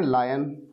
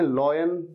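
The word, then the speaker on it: lion: एक शेर सो रहा था, शेर को आप कहते हैं लायन, इसे गलत प्रोनाउंस कभी नहीं करना है। कई स्टूडेंट्स इसे कहते हैं लॉयन, लॉयन नहीं लायन, लायन।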